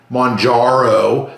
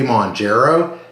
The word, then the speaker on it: Mounjaro: remind everybody that when I first started taking Monaro that's the way you're pronouncing right properly I've been corrected numerous times I always say mro and I'll probably slip up and keep saying